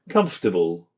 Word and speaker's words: comfortable: Number four, silent letters. Wednesday. Comfortable. So we do not say Wednesday, we say Wednesday. So we have some silent letters there. We do not say comfortable. We say comfortable.